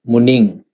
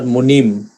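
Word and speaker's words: muniṃ: It's actually, in Pāļi language, it's nga, Muning. Nigahita, we call it. It's not Munim as in Sanskrit language. Sanskrit, they have Munim. But in Pāļi, we pronounce this as Muning, right?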